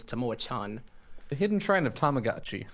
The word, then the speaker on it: Tamoachan: of tomorrow tomorrow chan i mispronounced it last time and i called it tamo khan but i believe the the correct one is tamo chan the hidden shrine of